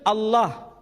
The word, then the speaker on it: Allah: Tidak ada seorang pun di kalangan masyarakat Timur Tengah ketika menjumpai istilah alif, lam, lam, ha dibaca Allah. Tetapi mereka serempak menyebutnya dengan pronunciation Allah.